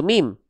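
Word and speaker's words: ميم: Cara melafalkan huruf mim itu persis sebagaimana kita melafalkan huruf m pada abj alfabet. Coba teman-teman katakan minum. Itu mim.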